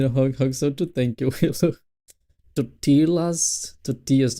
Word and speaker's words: tortilla: Tortillas. Not totillas.